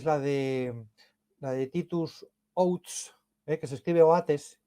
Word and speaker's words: Oates: última persecución es la de la de titus outs eh que se escribe oates pero se pronuncia zs Bueno pues